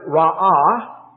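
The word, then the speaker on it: רע: is also translated sin the word ra ah you could spell it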